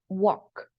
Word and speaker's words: walk: Same case with walk. Walk. The pronunciation is walk, okay?